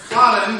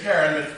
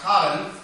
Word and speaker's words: Karen: The premise of the book is Meryl Streep's character, Cotton, we would say Karen, but it's Dutch, so it's pronounced Cotton.